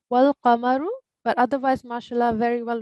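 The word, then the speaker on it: وَالْقَمَرُ: Just wanted to rectify one pronunciation thing, which is not a major, but it's wal qamaru.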